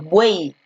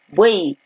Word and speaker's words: buey: Cuando una palabra termina en Y, esta tiene el sonido de I y se le considera como la vocal I, más no como la consonante Y.